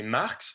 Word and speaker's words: Marx: ennemi de dieu et marx se prononce comme le nom du philosophe allemand dont on se rappelle